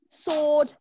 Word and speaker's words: sword: at the next one some letters are silent like in Autumn sword now people normally get